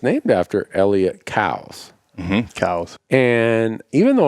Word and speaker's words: Coues: It is cows, like COWS.